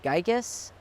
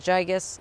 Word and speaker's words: gigas: This is gigas. You might pronounce it gigas. I pronounce it gigas, G-I-G-A-S.